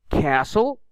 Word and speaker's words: castle: Castle, not castle.